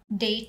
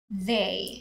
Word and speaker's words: they: have itches yes and same as day totally so instead of d it should have been they yes i observe that